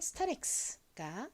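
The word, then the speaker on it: Starex: 나서 연결하면 죠 st 스타 릴 소리 나는 r a 소리 나는 e 그리고 끝에 뭐가 올까요 x 옵니다 아까 말씀드렸듯이 x 모음 뒤에 오면 기억 받침에 스 소리 나죠 그래서 스 타 그리고 x 기억 받침에 스 소리 나서 스타렉스가 되는데요이 스타렉스는 이름 에서 스타리아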